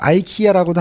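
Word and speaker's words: IKEA: 발음 보니까 아이케아라고 발음하더라고요. 이케아라고도 하고 아이키아라고도 하기도 하고 조금씩 달라요.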